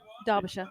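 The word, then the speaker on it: Derbyshire: Darbisher. Darbisher. Imagine the E is an A. Darbisher. And the I is a U.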